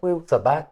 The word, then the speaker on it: Wu Sabat: Can you spell that first word? Wu is W-U, that's Wu, and Wu. Sabat is S-A-B-A-T, Wu Sabat.